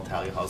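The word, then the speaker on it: Thalia Hall: already talking about that it's not tah Hall Talia Hall what the locals say but you know whatever there's no accent um so so anyway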